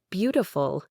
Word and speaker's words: beautiful: To practice this, take a word you know, like beautiful. It's biful. The stress is on the first syllable.